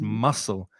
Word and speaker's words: muscle: If you pronounce it as you read it, you're probably pronouncing it wrong because the C is silent. So it's muscle.